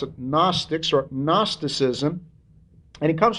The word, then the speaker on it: gnostics: i CS gnostics uh in English the G does not get pronounced so we pronounce it gnostics or gnosticism and it